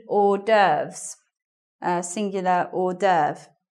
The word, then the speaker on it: hors d'oeuvre: meal, they are called hors d'oeuvres, singular hors d'oeuvre. Right. Doesn't sound anything like the way it's written there. If you haven't seen that word before written down, you could get it wrong.